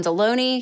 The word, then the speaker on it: Delony: no it's cuz my name rhymes with a lunch meat man it's a rough